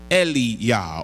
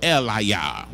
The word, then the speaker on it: Elijah: might pronounce it as le yah or Li yah we see it in our English Bibles because we now have a J so we pronounce it as Elijah but it would be Li yah and it means God